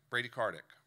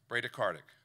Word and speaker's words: bradycardic: a patient became Brady Brady Karthik and I'm mispronouncing I apologize someone help me so I learned that pronounced right bradycardic Thank You Brady Karthik